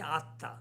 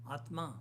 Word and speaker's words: Atma: The Bengalis will say Atta, Atma.